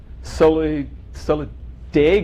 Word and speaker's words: Solidago: So in my backyard, Maria, Solidago is the way you say it, sempervirens, which sounds really weird to me, but I'll go with your pronunciation.